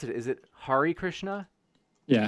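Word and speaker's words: Hare Krishna: but the they found out how do I pronounce it is it Hari Krishna yeah Hari Krishna there was actually one dude that found a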